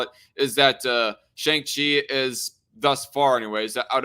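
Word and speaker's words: Shang-Chi: plus at all but i recently watched uh shang chi or shang chi as his name is actually pronounced i wasn't too impressed i i liked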